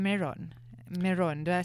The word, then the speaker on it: Meiron: there and that's why you have the name meron meron do I say it right give give us give us a bit of the it's meon and it's a difficult name to pronounce it kind of sometimes people think it's